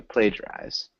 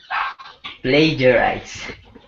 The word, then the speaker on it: plagiarize: So it's that long A, plagiarize. Can you repeat that one more time, Shane? Plagiarize.